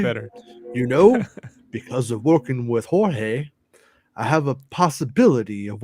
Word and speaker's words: Jorge: Gotta be like, Jorge. Emphasis on the whore.